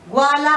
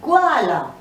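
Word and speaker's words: ग्वाला: Gwala is a milkman. Again, it is half ga here, just touching upon ga. Gwala.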